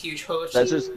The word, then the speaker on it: Hugehochie: It's supposed to say Hugehochie, but that's how we got away with it through Xbox, was Hochi. So the way we pronounce it is Hugehochie.